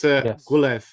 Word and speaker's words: Gwynedd: It's Gwynedd, by the way, Mark. That's how you pronounce the Welsh.